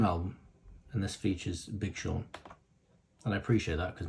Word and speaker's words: Sean: right there featuring Big Sean wrong spelling of the name by the way s-e-a-n it's not a special this is not the correct spelling it doesn't spell it's that says scene it just does I got fun fact